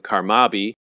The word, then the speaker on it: CARMABI: Marine biological Institute or their more quickly pronounced acronym carmabi grooved brain coral spawning